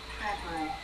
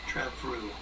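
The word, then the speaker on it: Trefriw: The F is a V. Treview. Treview.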